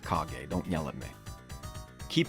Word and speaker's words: Kage: you out much less than cage and no it's pronounced kage don't yell at me